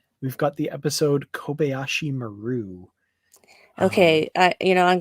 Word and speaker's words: Maru: hearing it this way it is maru it has always been maru and everybody says it meru including everybody in freaking star trek two the wrath of khan except for the guy saying this is the kobayashi maru so i'm just just it's a japanese phrase and you always put the emphasis on the first syllable of every japanese word there are no exceptions